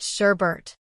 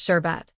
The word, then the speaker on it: sherbet: There is only one R in the word sherbet, but for some reason, millions of us have collectively decided to add a second one, making it sherbet.